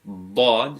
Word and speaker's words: ض: So you can pronounce it as Dad. So you're raising the tongue up and to the side.